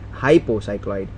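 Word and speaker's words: hypocycloid: is known as an happy sorry not happy hypo cycloid that is the correct pronunciation to do go for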